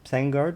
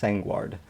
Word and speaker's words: Sangward: Dr. Sangward, or Sangard, or Sangward. I want to say it's going to be pronounced Sangward.